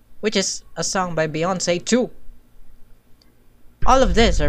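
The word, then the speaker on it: Beyoncé: i still don't know why it's pronounced as beyonce and not bay ones you feel me but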